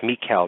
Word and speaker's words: Michel: What fascinates me about this story about Anneliese Michel, and it's Michel, not Michael or Mitchell.